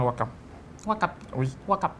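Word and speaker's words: Ouakam: Wakap. Oui, Wakap. à Wakam. Wakap ou Wakap? À Wakam. Ah, Wakam. J'ai prononcé en Wolof.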